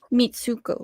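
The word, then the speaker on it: Mitsouko: Mitsuko.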